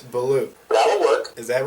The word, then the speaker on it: Beaulieu: oh oh and and what how would you pronounce it well I I believe it's beloo that'll work is that right yeah okay good